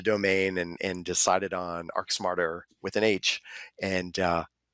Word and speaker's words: ArchSmarter: architecture part but it how do you actually pronounce it uh arc smarter arc smarter all right yeah yeah